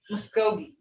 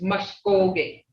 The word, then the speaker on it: Mvskoke: Some people say Mvskoke. It's Mvskoke. Because when you spell it, look here. Me, ah, si. Ki, oh, ki, e. Mvskoke. See? Mvskoke.